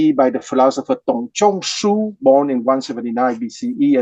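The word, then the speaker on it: Dong: is his family name the D once again is pronounced like a t so Tong family name Chu is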